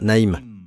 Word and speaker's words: Naïn: était la ville de Naïn. Et cette ville de Naïn est citée dans l'Évangile selon saint Luc. Dans votre Bible, c'est la ville de Naïn, mais les Hébreux prononcent Naïm, avec un M.